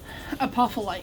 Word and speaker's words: Apophyllite: Apophyllite.